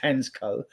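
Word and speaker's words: Hancko: I think his name's actually pronounced Hensco. The C is not pronounced as a C and he's captain of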